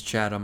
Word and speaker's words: Chatham: It's Chatham, I've been pronouncing it wrong.